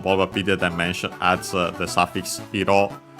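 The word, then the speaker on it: 色: Here on Bulbapedia Dimension adds the suffix Hiro. Hiro on its own, accented on the last syllable, means color.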